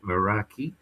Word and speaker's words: Meraki: Just get on YouTube and go Meraki, as you spell it as you say it, Meraki, and you'll see the film, which is fantastic.